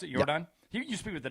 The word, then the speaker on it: Yordan: Jordan Alvarez hit what appeared to be a home run to left field. Yordan, yeah. But oh, is that how you pronounce it? Yordan?